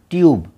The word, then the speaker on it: tube: हो रहा है टब, लेकिन यहाँ पे अक्षर के नाम से उच्चारण होगा वॉवेल यू के, क्योंकि वो ई से पहले करीब वाला वॉवेल है। तो अ नहीं यू, तो अ नहीं यू, टब, TUBE ट्यूब, TUBE ट्यूब, TUB टब, TUBE ट्यूब।